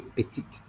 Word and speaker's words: petite: Small is petit, or for the feminine, you say petite.